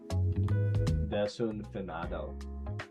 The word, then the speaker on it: desafinado: Pronounce the A more like an O. Desunfinado. Desunfinado. Desunfinado.